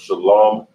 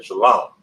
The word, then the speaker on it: shalam: is in the Hebrew it's not pronounced Shalom or Shalom but shalam all right so of course